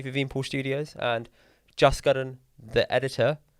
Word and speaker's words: Karan: Just Karan.